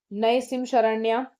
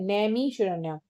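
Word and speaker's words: नैमिषारण्य: Actually मैंने इसका pronunciation गलत बोला, ये होगा नए नए मिशरण्य, ठीक है, नैमी शरण्य, या कुछ बेटर हो तो please guide me इन the comment section.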